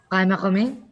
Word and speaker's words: Ghaemmaghamy: So the English pronunciation is Ghaemmaghamy. What's the New Zealand pronunciation? It's not New Zealand. It's originally it's an Iranian name. So it was actually pronounced Ghaemmaghamy.